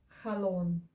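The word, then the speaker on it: חלון: Then you go to the next Hebrew consonant, which is lamed. And the vowel is the O vowel because it's the vav with the dot on top. And final N at the end. Khalon, which is window.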